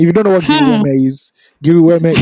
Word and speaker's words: GRWM: Giri Weme is called Get Ready With Me, GRWM. But we pronounce it here in Nigeria for the streets, Giri Weme.